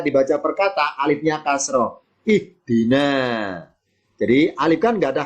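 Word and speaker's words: اهدِ: Kalau ketiga kasroh, alifnya ikutan kasroh. Ihdi. Nah, itu bacanya.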